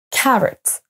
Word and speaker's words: carrot: sera un son choix le O ne se prononce pas comme un o à la française mais comme un e carrot carrot c'est pareil pour